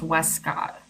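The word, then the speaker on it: Westcott: And even the ones with the T in the middle, it's pronounced Wescott. There, the T is kind of like a silent player in it.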